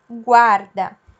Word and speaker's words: guarda: Quando ele está acompanhado da letra A, ele tem o U pronunciado. Então, por exemplo, Guaraná, guarda.